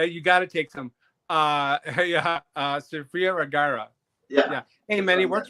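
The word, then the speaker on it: Sofía Vergara: Unless you're Sophia Viagra, or how do you say her name? Yeah, you got to take some. Sophia Vergara.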